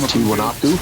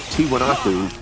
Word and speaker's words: Tiwanaku: He was in that area, and that he visited, I got to pronounce this right, Tiwanaku.